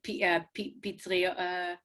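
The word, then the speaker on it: פטרייה: Oh, mitria is an umbrella, and pitria. Yeah, like patriot.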